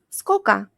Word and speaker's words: сколько: The next one is сколько. It means how much or how many. Сколько becomes скока. Скока. And since the last O sounds like A anyway, we spell it like this.